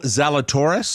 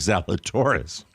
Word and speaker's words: Zalatoris: nowhere that's a will zalatoris yeah or i think that's the way because if you pronounce it like zelda taurus what's what rhymes with that's salad taurus this game his game